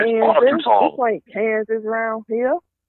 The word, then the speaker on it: Arkansas: And look, they don't even, I don't know, is it just me or why is it they spelling it Arkansas and pronouncing it Arkansas?